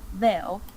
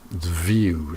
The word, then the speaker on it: view: Came into my veil. View, not veil.